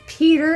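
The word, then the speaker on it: Pietyr: Also, there's a character in here, and his name is spelled P-I-E-T-Y-R, and when I got my books out of her, I was like, so, is his name just Peter? And she goes, yeah, I just spelled it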